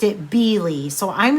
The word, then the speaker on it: Beale: pattern is by jennifer it looked like beale to me but irena i believe pronounced it b lee so i'm not positive